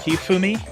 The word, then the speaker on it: Hifumi: Hifumi or sometimes I try pronouncing things a little well cuz it's uh it's not like a hard sound like in English. It's more like Hifumi.